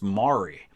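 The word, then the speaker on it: Maury: down in kentucky my my last name is pronounced mari and that was more along the lines of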